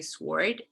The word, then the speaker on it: sword: In sword, it's not entirely clear because you could still say sword, right? Not sword. But it depends, I guess, on dialects. But with to and with answer, you see that the silent W kind of continued in spelling, even though it was not pronounced.